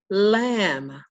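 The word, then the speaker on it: ل: We've got a few more left, and here is the lamb. Lamb. Very simple letter associated with the letter L. We use an L to represent it. The sound that it makes is L.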